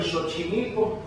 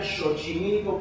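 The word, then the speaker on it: Xochimilco: español También estuvo en chochimilco que la gente no diría chochimilco porque la x del naha de paso se ha dicho se pronuncia como la sh del inglés o la ch del francés entonces dice chochimilco pero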